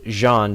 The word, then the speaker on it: Jean: And yes, again, if you hadn't caught it earlier, that name is indeed pronounced Jean because, well, that's how the dub pronounces it.